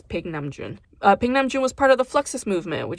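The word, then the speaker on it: Paik Nam-june: artist named Pig namjoon whose name often gets butchered in the American lexicon as namjoon Pike but that's not how it's pronounced as Pig namjoon ping namjoon was part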